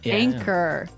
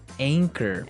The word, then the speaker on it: anchor: another boat word here anchor anchor anchor now it's spelled a n c h o r right but you don't pronounce the CH as you normally would right another one of